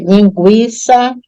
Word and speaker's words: linguiça: mas nessas aí todas se você pronunciar você vai ver que o u Ele é pronunciado tá você pode até fazer aí agora o exercício perceber linguiça enxague Equino frequência linguística bilingue então nessas sílabas o u é pronunciado então mas eu não